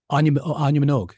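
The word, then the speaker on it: Áine Minogue: Anya Minogue.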